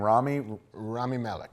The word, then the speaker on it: Rami Malek: Rami Malek.